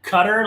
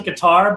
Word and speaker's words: Qatar: um it's actually pronounced it's actually pronounced like cutter like the mix of gutter and cutter um as americans we pronounce a guitar but i was stationed